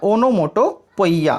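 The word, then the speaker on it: onomatopoeia: तो आप सभी के लिए ओनोमोटोपी वैसे पढ़ा जाता है इसको, लेकिन ओनोमोटोपोइया हम पढ़ते हैं क्योंकि हमें इसकी स्पेलिंग याद करनी होती है। तो ओनोमोटोपोइया का मतलब होता है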